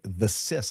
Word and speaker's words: Thesis: The Sis, or is it Thesis? It's Thesis. Thesis.